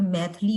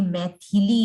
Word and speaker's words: मैथिली: ज्यादातर हम उच्चारण में मैथिली बोलते हैं, जबकि ये मैथिली है। तो थ को जो छोटी की मात्रा जनरली जो है बच्चे भूल जाते हैं, तो मैं आपको यह